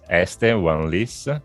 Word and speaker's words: Este Uan Lis: My name is Esther Van Lis. This is the right pronunciation of the name.